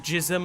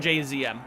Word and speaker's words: JZM: Jism like Senor Cum? No. JZM are my initials. That's where the name comes from. The way to pronounce it correctly is to pronounce each of the letters. Mr. JZM.